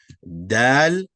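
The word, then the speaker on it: دال: Regarding pronunciation, both going to have the A sound, not no A, but A. Dal, Zal.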